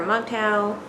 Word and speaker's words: MGTOW: their own way or m-g-t-o-w which is an acronym that people just uh pronounce as mgtow so this i believe